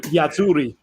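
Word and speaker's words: Azzurri: I'm going to pronounce it the Italian way as we attempt to grimly hang on in this match with Belgium. 87th minute, 2-1 for Yazzuri for the moment.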